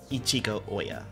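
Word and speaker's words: Ichiko Ohya: Ichigo Oya. Okay, that's how you pronounce her name.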